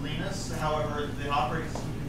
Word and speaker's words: Linus: Later saying that his name is pronounced Linus, however the operating system can be pronounced any way that's proper in your locale.